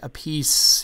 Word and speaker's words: Appice: yeah yeah I know now your your brother he pronounces it a piece yeah I I know